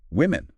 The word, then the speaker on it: women: subtle but important very women plural stories from women. That O sounds like a short I like in win. It's not like the O in woman singular which is more like would.